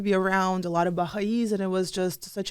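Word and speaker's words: Baháʼís: Baha'is, yeah.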